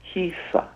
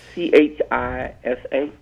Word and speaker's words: Chisa: And it's pronounced Kisa. Kisa, thank you. Like Kisa. Chisa.